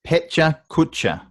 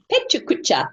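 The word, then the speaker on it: Pecha Kucha: And just that is pronounced Petcha Kutcha. Petcha Kutcha.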